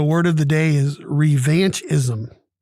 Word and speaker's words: revanchism: of the day is revanchism or revanchist okay both have three syllables r e v a